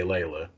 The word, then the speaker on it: Leila: have her here how are you doing today layla i'm doing great thank you for having me and i'm also wildly impressed you pronounce my name right you're one of the